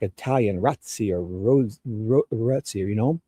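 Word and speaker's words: Rozzi: guarantee it's like a ratsi, you know, the Italian proper pronunciation would be rats or you know, but he pronounces it rosy like a rose even though it's spelled r o zzi.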